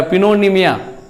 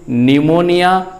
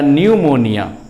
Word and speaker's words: pneumonia: उसी तरह से PNEUMONIA इसको लोग पढ़ेगा पिनोनिमिया। जिसको नॉलेज नहीं है पीस का उच्चारण कर लेंगे, लेकिन इसको हम लोग पढ़ेंगे निमोनिया या न्यूमोनिया। वैसे नॉर्मली लोग बोलते हैं निमोनिया। तो P वर्ड यहाँ पे मेरा साइलेंट हो गया।